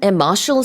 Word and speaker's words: Marshall: 참고로 여기서 Marshall Plan의 Marshall 스펠링은 M-A-R-S-H-A-L-L이에요. 그래서 말씀드린 것처럼 이게 예전에 그 국무장관 조지 마셜의 이름에서 따온 겁니다. Not to be confused with M-A-R-T-I-A-L, which sounds the same but Yeah.